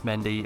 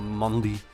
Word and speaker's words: Mendy: I know it's Mendy or Mondi if you really want to throw some twang on it. But it's Mendy.